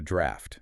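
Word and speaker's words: draught: A draft, and that's spelled D R A U G HT for everyone listening, right?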